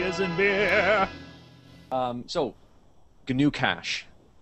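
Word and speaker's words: GnuCash: in beer um so G new cash it's accounting software that is open source you pronouncing the G I'm pronouncing the G it's maybe new cach but then it sounds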